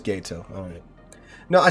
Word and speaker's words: Gato: Like Gato, like Spanish. Or am I just wrong? Gato. So it is Gato.